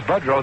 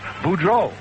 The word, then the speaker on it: Boudreau: And anybody that comes up and says Budrow, then I know they're from Harvey, Illinois. But when I got into professional ball, some smart sports writer looked it up. The correct French pronunciation is Boudreau.